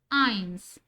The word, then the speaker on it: eins: So, 1 is pronounced as eins.